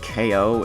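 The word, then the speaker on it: Kao: Apparently the names of those wheels are, I think it's pronounced K-O, if you spell it K-A-O, like K-O the kangaroo.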